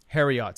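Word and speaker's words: Heriot: ] sick as hell Harriet shout out Harriet Cory's picking up his phone right now it's spelled h I'd be saving h-e-r-i-o-t harriots like Chariot but Harry yeah yeah uh they're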